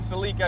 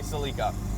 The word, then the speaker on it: Celica: And yes, I'm going to continue saying Celica because that's how we say it in Canada here, and that is what the Japanese and Toyota, how they pronounced it in their ads in the 80s.